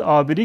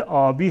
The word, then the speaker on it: آبی: میشه روی گاف‌های ما میگن آبری که البته آبی هست آبی نیست همین آبری و تلفظ درست ترش آبی هست آبر یکی از روستاهای